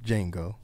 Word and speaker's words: Django: The premise of the movie is you have Jamie Foxx starring as a slave by the name of Django. The D is silent.